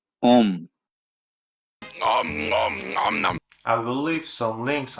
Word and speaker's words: Om: It's pronounced Om. Om.